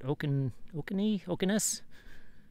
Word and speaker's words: Ossineke: And that is the State Forest campsite here in, I cannot pronounce it, Ossineke, just outside of Alpena, Michigan.